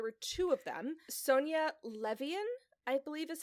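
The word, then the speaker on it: Levien: Sonia Levian, I believe is how it's pronounced. So, Levane, like Levine potentially.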